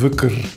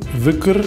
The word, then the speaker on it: Dhikr: Ah, da steht Dicke, aber es wird locker Wücker oder so ausgesprochen.